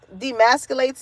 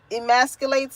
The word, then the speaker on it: emasculates: If you are dealing with anyone that demasculates you, am I saying it right? Well, I don't feel like I'm saying it wrong. Emasculates you.